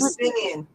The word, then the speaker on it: Eleusinian: Eleusinian.